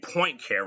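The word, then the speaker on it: Poincaré: I prefer to pronounce his name Poincare because it's better and truer.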